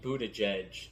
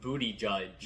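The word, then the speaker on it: Buttigieg: uh spot is Pete Buddha judge so they can go after the G first of all say his name right when you say it Peter booty judge that's better that's better uh I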